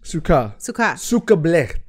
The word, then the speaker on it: Sukkah: okay the word of the day is s-u-k-k-a-h Suka okay listeners but the holiday the holiday is